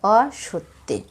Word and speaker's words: অসত্যে: এই শব্দগুলোর মাঝখানের অক্ষর ওকার সহযোগে উচ্চারিত হবে। যেমন এখানে আছে রাজত্বে, হবে রাজত্বে। দাসত্বে গানের সুরে উচ্চারণ হবে দাসত্বে। অসত্যে গানের সুরে উচ্চারিত হবে অসত্যে।